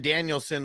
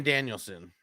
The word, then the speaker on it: Danielson: Yeah, so he was with Nikki, and Bryan Danielson was with Brie. So they were like, it's Danielson or Daniels? Bryan Danielson. Oh, for real?